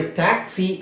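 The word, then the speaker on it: taxi: Second syllable stress ಮಾಡ್ತಾರೆ ಇಲ್ಲಿ ನೋಡಿ ಟ್ಯಾಕ್ಸಿ ಅಂತ ಇದೆ. ಇಲ್ಲಿ ಸ್ಟ್ರೆಸ್ ಎಲ್ಲಿ ಅದೇ ಸಪರೇಟ್ ಆಗಿ ಡೀಟೇಲ್ ಆಗಿ ನೋಡೋದಾದ್ರೆ ಟಿ ನ ಸ್ಟ್ರೆಸ್ ಮಾಡ್ತೀವಿ ಫಸ್ಟ್ ಸಿಲಬಲ್ ಟ್ಯಾಕ್ಸಿ ನಿಮಗೆ ಅನ್ಸುತ್ತೆ ಇದು ಇದೇನದು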